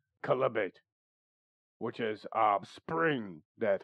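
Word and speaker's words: chalybeate: sometimes he would use chalibate or let's see this oh i've been pronouncing this wrong this is a c-h-a-l-y-b-e-a-t columbate which is a spring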